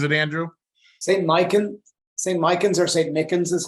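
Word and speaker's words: St. Michan's: Micans or St. Mickens is how it's pronounced.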